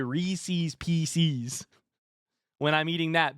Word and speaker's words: Reese's: Recess, except a short S on the end. Recess? Pieces? Reese's.